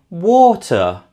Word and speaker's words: water: And finally, water is stressed on the first syllable.